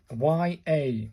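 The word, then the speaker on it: や: And then the final one is this one, Y-A, pronounced like the Y-A in yard, so it's a ya, and this is a ya sound.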